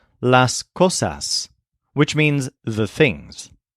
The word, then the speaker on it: cosas: Make sure to pronounce the final S as a hard S. S. The Z sound that we use at the ends of words in English doesn't exist in Spanish.